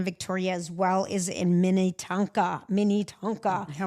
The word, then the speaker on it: Minnetonka: Paul, Grand Victoria, as well as in Minnitanka. Mina. Yeah. Why do you say it like that? I'm just saying Minnetonka.